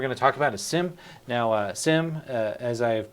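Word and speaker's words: SIEM: thing here we're going to talk about is sim now sim as i have pronounced it is is a little bit different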